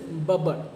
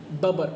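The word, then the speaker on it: Bubber: एक boy name is बबर okay बबर कुछ लोग उसे बूबर प्रोनाउंस करते हैं बट करेक्ट प्रोनंसिएशन जो होगी वो बबर ही होगी ओके बबर सो चलिए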